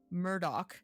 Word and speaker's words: Murdaugh: in the what I now know how to pronounce Alec Murdock cake that he is actually right now on